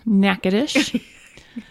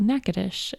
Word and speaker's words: Natchitoches: like the Natchitoches meat pie bless you yeah naca dish so being from Louisiana there's a town called neck adesh in the north central area how do you